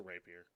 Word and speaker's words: rapier: Yeah, it's a rapier.